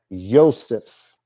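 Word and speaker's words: יוסף: Joseph was still pronounced Yosef. Anything you find with a J in your Bible today, pronounce it with a Y.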